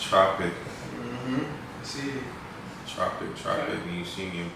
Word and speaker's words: Trpk: time trpk the artist Tropic is pronounced Tropic I see Tropic chocolate